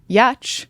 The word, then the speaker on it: Giertz: I mean, granted, my ancestors decided that my last name, spelled Giertz, was going to be pronounced Yatch.